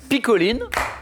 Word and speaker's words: picholine: La picheline? Alors, normalement, le CH se prononce K, mais je vais accepter la réponse, bien sûr. Picoline, et qui s'écrit picholine.